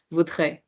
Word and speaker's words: voudrais: So it's more like a very fast, subtle sound. Voudrais.